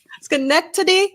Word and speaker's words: Schenectady: according to WGY Radio in, I can never pronounce this right, Schenectady. Schenectady.